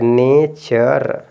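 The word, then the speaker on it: nature: यहां पे एन ए टी यू आर ई तो आप देखिए यहां पे य च हो गया य र हो गया ने तो ने चर क्या हो गया ने चर ये हो गया आपका नेचर इसी तरह से देखिए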